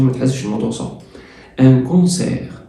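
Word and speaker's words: concert: ان كونسير، كونسير، كونسير التي ما بتتنطقش يعني حفلة، وحفلة موسيقية كمان.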